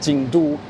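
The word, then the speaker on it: 京都: two characters are pronounced in Mandarin, or to pronounce Kyoto as Jingdu.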